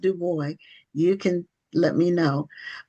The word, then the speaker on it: Dubois: It's Dubo. Okay. Dubo, are you related to Web Dubo? I am not, but he is my namesake. So, I like to pronounce my name the way he pronounced his.